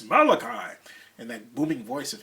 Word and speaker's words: Malachi: him I started interviewing him I called him Malachi Throne because no one told me how to pronounce his name I never heard his name pronounced and just as I said that he said it's Malachi and that booming voice of his and so